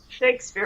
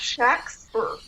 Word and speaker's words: Shakespeare: Actually, it wasn't pronounced like Shakespeare. It was pronounced Shaxper. Okay. S-H-A, this is the way it was spelled. S-H-A-X-P-E-R, Shaxper, S-H-A-C-K-S-P-E-R. It was spelled many different ways, but almost all of them emphasized the short A, Shax.